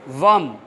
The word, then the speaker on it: वम: ठीक है, तो चलिए उसके जो बीज मंत्र की बात करें डायरेक्ट, तो है वम, व और उसके बीच अनुस्वार, उसका प्रोनाउंस है वम।